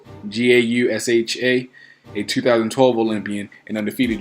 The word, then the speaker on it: Gausha: Terrell Geisha, sorry for mispronouncing the last name, Gausha, a 2012 Olympian and undefeated junior middleweight, will also be in attendance, or in action rather.